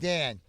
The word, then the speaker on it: Dawn: Dear, my name is Dawn, D-A-W-N, pronounced Dan.